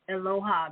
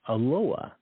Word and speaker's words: Eloah: want to look at aloha now you can see on the screen it's spelled e-l-o-a-h it's Aloha that's the best pronunciation I'm going to do